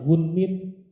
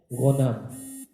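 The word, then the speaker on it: غنم: Ada salah penyebutan nama, harusnya namanya gunmin, dibacanya ghanam. Kalau ngerti artinya pada ketawa semua, tapi antum nggak ngerti alhamdulillah. Ada seorang perawi namanya gunmin, tapi karena nggak ngerti bacanya ghanam.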